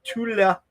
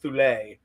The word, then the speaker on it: Thule: Um, so the Tula, I think that's how you pronounce that, right? Tula, it's not tle, it's tula, I think, or something like that.